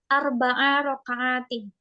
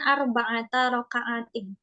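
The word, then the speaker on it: أربع ركعات: angkanya pakai yang mudakar makanya kita dalam niat bacanya arbaa rakaatin atau salasa rakaatin bukan bukan salah Sata rakaatin bukan arbaata rakaatin nah yang diperhatikan yang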